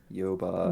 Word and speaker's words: Yoba: this god's name is yoba yoba which rhymes with boba which is a delicious drink